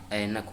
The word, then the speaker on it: ऐनक: ठीक इसी प्रकार जैसे एनक, एनक नहीं होता है, ऐनक होता है।